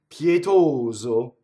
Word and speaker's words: pietoso: Pietoso, all closed, right? Single T.